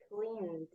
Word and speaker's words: cleaned: Cleaned. Clean. Ah, very good. So it sounds more like a D.